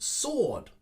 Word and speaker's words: sword: similarly number seven has also a w sound which is not pronounced but i hear this a lot sword sword many of my students make that mistake but as with number six and the w it is silent we just simply put sword sword this sword is 200